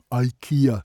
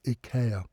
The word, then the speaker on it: IKEA: IKEA, if you want to put it that way, but it should be pronounced IKEA.